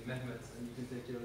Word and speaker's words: Mehmet: So everyone, please repeat after me, make the sound. Yeah, that is the vowel in my name, Mehmet, and you can take your consonants yourself.